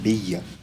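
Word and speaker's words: Beia: Donc, c'est Béa. Peut-être que j'avais mal prononcé.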